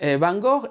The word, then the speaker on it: Gogh: mismísimo vincent van gogh o como diría mi amiga a coki de jong que es de rotterdam en fin se fajó y se lo dice ella que es holandesa pues será que se pronuncia así bien van gogh es